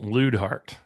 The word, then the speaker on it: Luidhardt: It's pronounced Luidhardt.